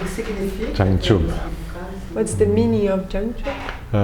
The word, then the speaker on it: Jangchub: So, Jang you can do. Jang, podemos fazer Jang. Like John or Jang. Jang ou Jang. Chub. Chub. Jangchub.